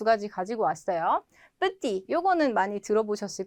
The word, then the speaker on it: petit: 자, 요거 발음 안 되죠? 끝에 petit. 근데 을 붙여주니까 petite 발음이 되죠. 마찬가지 요것도 뭐 그랜드 오픈 이런 거 많이 보셨죠? 큰이라는 의미인데 사람한테는 키가 큰 grand 발음 안 되고 있죠? 여성은 grande 발음이 된다.